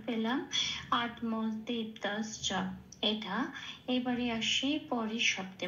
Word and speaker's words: আত্মতৃপ্তশ্চ: তাহলে শব্দটার সংস্কৃত উচ্চারণ পেলাম আত্মদীপ্তাশ্চ, এটা।